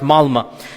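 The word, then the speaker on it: Malmö: Malma is it's spelled with an O but it's pronounced Malma.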